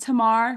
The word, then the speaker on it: Tamar: My name is pronounced Tamar with a short A.